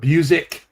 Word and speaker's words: Busiek: Kurt Busiek. That's how I pronounce his name.